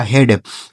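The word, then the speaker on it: head: ह इ ए का उच्चारण ए की मात्रा। डी से ड यह लिखा गया आपका हेड। एच ई ए डी हेड ठीक है।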